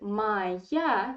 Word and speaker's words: моя: there is the stress in the word moy the stress is on o in the word my ya the stress is on ya and this o is in unstressed in weak position so according to russian phone ethics we have to pronounce unstressed or like so be careful